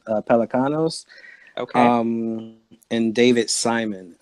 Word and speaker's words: Pelecanos: George the see Michael pronounce his last name Pelican nose Pelecanos oh come in David